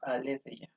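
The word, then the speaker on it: ἀλήθεια: sentido griego de nuevo esto se puede pronunciar de dos maneras la tradición ortodoxa digamos la versión estándar en los ámbitos académicos de la filosofía no de la filología o de la historia se leen todas las palabras de manera que diríamos alezeia pero en filología normalmente se dice más bien malicia por cómo se pronuncia actualmente el griego pero no importa el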